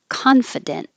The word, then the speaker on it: confident: And I have a lot of words to do, starting with confident. Now, the I can be f or fi because it's not stressed.